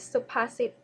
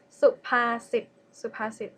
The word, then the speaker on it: สุภาษิต: Okay, the second one is สุภาษิต first syllable low tone, second syllable mid tone, and third syllable low tone. สุภาษิต means proverbs.